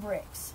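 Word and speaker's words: Brix: sugar will go up sugar is called bricks and it's spelled b r iix and measured in degrees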